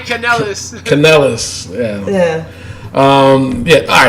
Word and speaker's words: Kanellis: Mike Canella like a wrestler or some shit like that? No, Canellis. Yeah, Mike Kanellis.